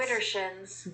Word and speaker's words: Widdershins: Okay, but I think it's spelled with a D. So it's Widdershins. Widdershins.